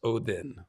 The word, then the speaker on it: Odin: you're basically saying Odin, because the hard D is the more modern pronunciation. The classic pronunciation is Odin, like that.